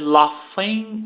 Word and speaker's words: laughing: Crump, he said, laughing. Esse GH tem som de F.